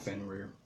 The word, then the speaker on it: Fenrir: I would say it's pronounce Fenrir.